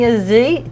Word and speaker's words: Azi: yes welcome Kenny Kenny Ozzy did I pronounce it right that is correct it is pretty much French but you you have